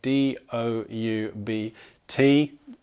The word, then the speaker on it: doubt: with a B but again not pronounced with one so d o u b t doubt uh interestingly this uh